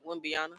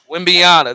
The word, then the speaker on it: Wembanyama: I'm sorry if I how you say it, Wimbiana. Wembanyama.